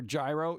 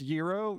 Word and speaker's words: gyro: comes up to me asking for a gyro you know it's pronounced Euro they'll be like bleep